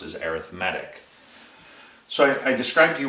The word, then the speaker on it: arithmetic: sequence is it does look like the word arithmetic whenever it's used as an adjective it's not pronounced pronounced as arithmetic it's pronounced as arithmetic so I describe to you what an arithmetic